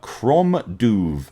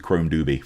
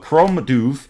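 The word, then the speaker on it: Crom Dubh: from the band uh Chrome duve I believe is how you pronounce that uh it's kind of a Gaelic thing it's Chrome and then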